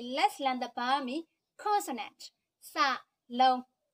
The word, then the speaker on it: စ: Sa long. Sa long is pronounced sa.